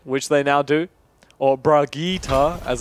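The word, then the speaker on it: Brigitte: they're probably gonna have fault mods on the Bridget which they now do or Brigitta as its correctly pronounced reheat no it's rookie takes appreciate you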